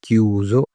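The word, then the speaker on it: chiuso: अगर बंद है, क्लोज है, तो उसके लिए लिखा रहेगा क्यूजो, की ऊ जो क्यूजो।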